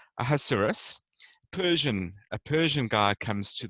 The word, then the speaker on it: Ahasuerus: That's actually not how you pronounce it. I can't ever remember how to pronounce his name properly, but phonetically, you pronounce it Ahasuerus.